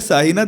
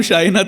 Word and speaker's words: शाइना: Pronounce कर रहे थे, वो कह रहा है साहिना । तो मैम ने बड़ी मोहतरम बहुत मोहब्बत से उस बच्चे से कहा कि बेटा तुम्हारा तलफ़ुज़ उच्चारण बिल्कुल सही है, इस शीन को उठा के इधर ले आओ और इस सीन को उठा के ले आओ, तो मेरा नाम शाइना जो है वो ठीक हो जाएगा।